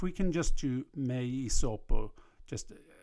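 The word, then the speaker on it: hyssopo: And one of the things they do, that they don't pronounce their H's in Latin. So it's not hisopo here. It's just asperges mei sopo et mundabo.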